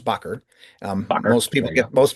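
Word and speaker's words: Bakker: Um starting with Robert Bcker pronounced Bcker.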